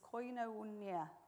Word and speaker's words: koinonia: And the word for fellowship is koinonia. I don't know whether I've said that right, but it's spelled K-O-I-N-O-N-I-A, which means to have in common or to share.